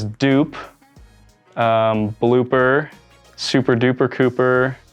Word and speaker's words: Cooper: edmonds washington there's cooper the pooper scooper there's duper there's dupe um blooper super duper cooper people catch on pretty fast that my name rhymes with pooper and poop so that was like